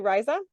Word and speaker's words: Ryza: Am I saying it correctly, Ryza? It's Ryza, but you're all good.